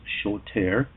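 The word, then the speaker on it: שׁוֹטֵר: in the hebrew lexicon is 78 60 it's pronounced shoter it means an active participle of an otherwise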